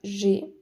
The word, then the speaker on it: j'ai: française qui est que deux voyelles ne peuvent pas se suivre. Donc, je plus voyelle se transforme en J apostrophe. Donc, ce sera j'ai. Tu as, avec un S qui ne se prononce pas.